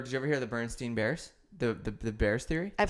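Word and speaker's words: Berenstain: It's actually Bernstein. Oh. But people remember Steen. No. I've heard the theory. And I remember Steen.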